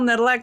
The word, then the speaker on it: Nedelec: my name is nedleck if you say my last name quickly you're probably saying it right it's all good and